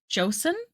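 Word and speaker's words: Joseon: It's pronounced Joseen, right? Yeah.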